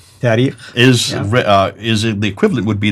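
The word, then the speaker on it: تاريخ: And then the last genre, the tarikh.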